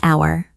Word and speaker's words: hour: It's an hour, Why do we use an? because the H is silent.